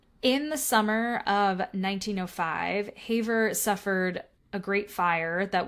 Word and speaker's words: Havre: So the last place I have is My guess is it's pronounced Havre, but it's definitely French, Havre. So Havre, but I'm not going to say it with a French accent, so I don't sound like an asshole.